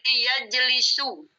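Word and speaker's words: يجلس: Masuk ke sini bacanya jadi yajlisu.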